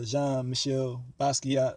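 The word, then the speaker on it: Jean-Michel Basquiat: insight on who uh jean michelle basquiat or that's how you pronounce it you know saying uh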